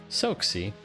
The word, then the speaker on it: Soxy: soxy don't worry that's how everyone pronounces it soxy okay easy like a super soaker but in tiny tiny super soaker like sexy so not